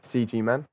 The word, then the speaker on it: CGMan: english pronunciation but hey i always use the english pronunciation myself ah cool um any